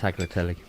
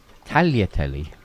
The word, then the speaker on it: tagliatelle: No, I just let them have a bit of tagliatelle. There you go. Here goes, Nelly. Tagliatelle. Tagliatelle. There you go. But there's no G. No, there is a G. You don't pronounce it hard.